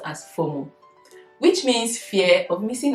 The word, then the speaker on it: FOMO: The second one, which I'll be talking about, is what we call the FOMO, and it's pronounced as FOMO, which means fear of missing out.